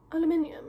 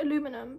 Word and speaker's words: aluminium: case is aluminium ella aluminium is how you say it i know america's like aluminum but is that how british people say her aluminium yeah anyway it's like